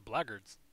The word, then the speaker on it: blackguards: rose i'm not sure why marcus and the blackguards are working together that's not how you pronounce it the bloggers sounds like a goddamn slur okay let's go